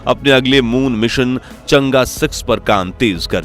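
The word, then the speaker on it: 嫦娥: चांद की देवी तो भले ही कुछ लोग इस प्रोग्राम को चंगी या चांगी कहकर पुकारते हो लेकिन असल में इसका उच्चारण होता है चंगा खैर पिछले 20 सालों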